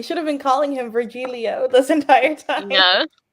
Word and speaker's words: Virgilio: but I heard it earlier I said Leo virgilio here there's a lot of plan virgilio nice it's good to know we should have been calling him virgilio this entire time yeah it's just kind of